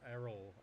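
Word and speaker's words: Errol: say let's do some map there David Flynn is spelled e r r o l Flyn error I looked at body ER Erol ER Erol ER okay I looked at body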